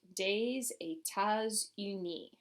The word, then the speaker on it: des États-Unis: But when we put it all together, we get des États-Unis. Try that one for me. Des États-Unis. Notice that as I'm going through and pronouncing it, we're having liaison between all of those S's.